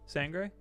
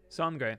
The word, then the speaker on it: Sangre: How you pronounce blood in Spanish? Sangre? Sangre. That's what I thought.